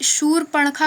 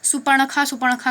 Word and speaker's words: शूर्पणखा: कई लोग शूर्पणखा को सुपर्णखा करके पढ़ते हैं, जो कि गलत है, क्योंकि ये जो रा लगा हुआ है, ये जिस अक्षर पर लगता है उसके आगे वाले शब्द के साथ उसका उच्चारण किया जाता है। जैसे यहाँ पे पा पे लगा है तो ये सूर निकलेगा, शूर्पणखा, जैसे आशीर्वाद में होता है।